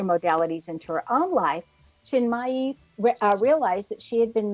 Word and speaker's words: Chinmayi: Our expert tonight is Julie Chinmayi Dore, and I might have mispronounced that middle name, Julie.